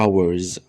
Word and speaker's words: hours: هو يقضي many hours خلي بالنا اسمها hours مش hours، لا الاتش silent ما بتتنطقش.